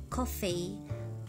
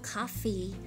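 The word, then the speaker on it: coffee: になりますえっと次コーヒーイギリスええイギリスイギリス英語だとコフィーコフーコフーコフィー O の発音ですアメリカ後になるとカフィカフィアの発になりますね箱 BOX BOX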